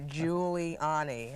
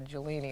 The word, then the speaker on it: Giuliani: that's what I said I have it written out phonetically here Giuliani I don't want to call you jolini like the conductor in LA a lot of people